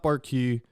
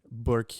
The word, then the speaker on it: Bourque: And it's not Bourque. It's spelled like Bourque. It's very fancy. A very fancy Bourque.